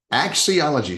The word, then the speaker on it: axiology: Let me see if I can get the correct pronunciation. Axiology? Did I do it? Axiology.